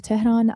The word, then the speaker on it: Tehran: Yeah, I'm from Tehran and I grew up in Tehran as well.